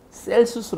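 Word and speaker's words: Celsus: 신학 철학자 가 있어요 어 켈 수수 라고 읽기도 하고 셀 수술 하고 있기도 해요 그 시작을 영어라면 c 를 시작하게 되는데 gels 이상하기 때문에 그 씨가 키 k 바로 나니까 그래서 켈 수 라는 사람이 기독교를 비꼬면서 열려서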